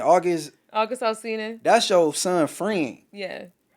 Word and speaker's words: August Alsina: August Alsina.